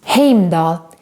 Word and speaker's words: Heimdall: kind of makes sense heimdall is pronounced and spelled pretty correctly in the movies heimdall had the best